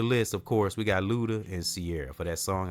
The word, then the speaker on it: Luda: said that already but you got to say his name name like that Luda you know ghetto what